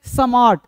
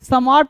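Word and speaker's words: smart: अब बोलते हैं स्मार्ट। सम्मार्ट नहीं। देखो एस कैसे बोलना है? पता है क्या? हिंदी का जो लेटर होता है वो पूर्ण होता है। लेकिन इंग्लिश में हमेशा क्या होता है? अधूरा होता है। तो आधा बोलना है।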